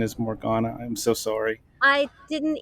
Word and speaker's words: Morgana: the first time, and I forgot that your pronunciation is Morgana. I'm so sorry. I didn't even notice a mispronunciation. West Oh, Coast people tend to say Morgana. East okay. Coast people tend to say Morgana, and Yeah.